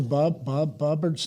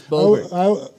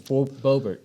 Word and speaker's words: Boebert: What's the Bobbert's name? I always screw it up. It's Boebert. I always say Loretta Bobbitt. Yeah, it's Boebert Yeah, we got to